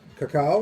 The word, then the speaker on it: cacao: So, cacao or cocoa, depending how you pronounce it. Actually, it's cocoa. I think that's a snobby thing I see online. I don't know why I started calling it cacao. It's cocoa. It's cacao in French.